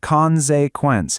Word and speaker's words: Konsequenz: And here's our second big German word, consequence, pronounced Konsequenz.